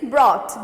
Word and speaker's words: brought: Next is brought, B-R-O-U-G-H-T, brought. B-R-O-U-G-H-T, brought. Brought means to bring. Okay, to bring. B-R-O-U-G-H-T, brought. Here G-H will be silent.